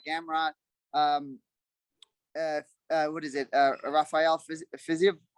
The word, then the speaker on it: Fiziev: Rafael Fiziev? How do you say his name? Yeah, Fiziev.